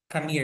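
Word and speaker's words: Khmer: yung pinak ginagamit nila kamir ay kamir is the right pronunciation paron kamir is designed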